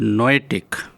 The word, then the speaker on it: noetic: I wonder if you have ever heard the word noetic. It is spelt n o e t i c and it rhymes with the word poetic that we all are familiar with.